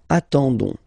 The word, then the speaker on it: attendons: and then we've got the classic ending for nous, so O-N-S, okay, you don't pronounce the S, so you get only this on sound, okay. Attendons, nous attendons, so we'll make the link between the two, la liaison.